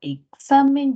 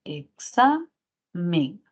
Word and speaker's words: examen: Miren, si identificamos la sílaba tónica en la primera palabra, sería examen. Si quisiéramos colocarlo en sílabas, sería examen. Tenemos tres sílabas y la mayor fuerza de voz no va en la E, porque si no sería examen.